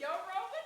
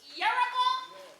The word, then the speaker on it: Yoruba: I might be Yoruba too. Girl, what? You mean Yoruba? First you gotta learn how to say it, Lloyd.